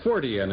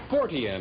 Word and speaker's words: Fortean: Our next guest is a Fortean, and we'll find out exactly what that is from him.